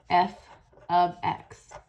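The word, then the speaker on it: f(x): function notation and f parentheses x is actually pronounced as f of x so we don't read it as f parentheses x we read it as f of x in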